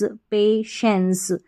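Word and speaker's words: patience: पेशेंस का मतलब धैर्य यहां पर टी आई जो आ रहा है पेशेंस में इसका उच्चारण श है ना कि टी है ना टाई है इसको श पढ़ेंगे पे और फिर श और एंस पेशेंस धैर्य अगला है वॉई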